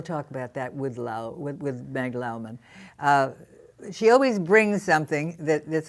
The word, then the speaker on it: Lowman: Her name is Meg Lowman, L-O-W-M-A-N. In the beginning, people start calling her Lowman, but no, Lowman is the correct pronunciation.